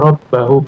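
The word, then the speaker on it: رَبَّهُمْ: Jadi rabba bacanya. Inna rabba hum bihim. Jadi ada di mana jika antum menemukan inna itu setelahnya fathah saja ya. Innallaha rabbihum Innallaha. Inna rabbahim rabbahum. Aina rabbahum rabbihim rabbuhum. Inna rab bahum. Jadi Pak kalau ada inna itu dibaca fat fathah.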